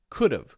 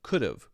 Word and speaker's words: could've: And now it's pronounced would've, would've, would've, could've, could've, could've, could've, could've, could've, could've, could've. Okay?